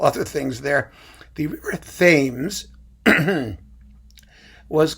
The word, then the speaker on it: Thames: It really ought to be pronounced Thames. And you know how we know it should be pronounced Thames? I'll tell you.